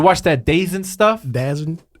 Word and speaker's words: DAZN: that da and stuff Daz n it's the Zone hey but I understand